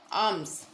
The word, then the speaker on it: alms: ಆರ್ಮ್ಸ್. ALMS. ಆರ್ಮ್ಸ್. आर्म्स ಅಂದರೆ ಭಿಕ್ಷಾ. Arm means in Hindi में भिक्षा. इन Kannada भिक्षे. Spelling नोड्री ALMS. आर्म्स. ALMS. आर्म्स. ಇಲ್ಲಿ L ಸೈಲೆಂಟ್ ಐತೆ ನೋಡ್ರಿ.